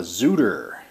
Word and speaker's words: Xootr: several miles on it it's called a zuder it's spelled x o o t and uh kind